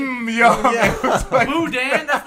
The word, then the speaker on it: boudin: It was like- Boudin.